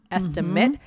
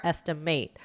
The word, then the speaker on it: estimate: But again, think about that I and A, the long and short vowel sounds, depending on the context. So we said nouns are generally the short estimate. Verbs are generally longer estimate.